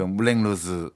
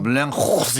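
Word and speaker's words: Moulin Rouge: 그 물랭루즈 네. 그 영화 나오는 그 술집도 있고요. 네. 파리에서는 물랭루즈라 그러면 택시 기사가 못 알아들어요. 그 불어가 그렇더라고요. 오. 물량 호스 이렇게 해야 그렇죠.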